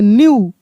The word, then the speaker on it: knew: न्यू।